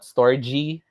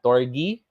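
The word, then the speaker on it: storge: four okay story okay we pronounce this as torgy from those who are not familiar story not storage not storji it's torgi philia eros and agape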